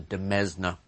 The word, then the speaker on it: demesne: The other section of a Roman estate consisted of something known as the domain, sometimes pronounced the demesne.